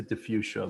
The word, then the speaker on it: Di Fuccia: your last name uh well it's americanized to diffusion most people just say diffusion that's how my family pronounces it yeah okay and and